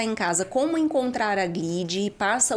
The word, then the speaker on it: Glid: Glid é GL e E D. O D é mudo, Glid odontologia.